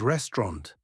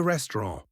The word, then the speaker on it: restaurant: French word, le restaurant. Question, où est le restaurant? The final T is silent, and Ran uses a nasal sound.